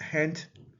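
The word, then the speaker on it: ḥnt: And again, that is transliterated HNT, pronounced hent.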